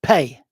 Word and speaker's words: Phat: The seed mantra Phat, in its Tibetan pronunciation would be Pei, is often associated with the mantras of wrathful deities.